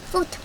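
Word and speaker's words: photo: 그래서 폼 phot o 포토입니다. 포토 H는 발음이 안 되죠.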